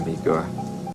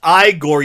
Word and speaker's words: Igor: him all anytime eigor it's pronounced igore you uncultured swine if